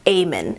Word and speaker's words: Aemon: I think his name is pronounced Aemon. The written out, it starts with an E, but I think it was Aemon.